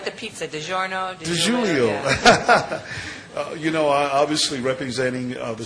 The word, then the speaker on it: DiGiorno: Like the pizza, DiGiorno.